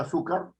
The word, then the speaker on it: azúcar: Entonces digo la palabra azúcar, y entonces tengo azúcar. Está en la su, ¿no es cierto? La fuerza de la voz.